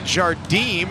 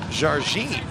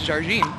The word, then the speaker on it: Jardim: And you're telling me it's appropriately pronounced Jarine. Correct. She is from Brazil. And the the correct pronunciation often improperly done by many people is Jarine.